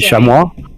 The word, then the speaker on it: chamois: feral pigs feral goats chemi i don't know how you pronounce it in my beautiful french it would be chamois yeah red beer